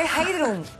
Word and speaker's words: Heidrun: Pero se escribe Heidrun. Sí, pero todo el mundo me llama Heidi. Heidi. Heidi. Pero la pronunciación íntegra y el escrito del nombre es sí, Heidrun.